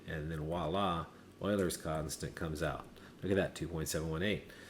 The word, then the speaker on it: Euler: That's Euler's constant. You pronounce it Euler, okay? Not Euler, but Euler.